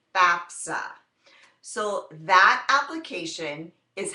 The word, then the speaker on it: FAFSA: FAFSA sometimes people say FAA but we're it's pronounced FAFSA so that application is how you get need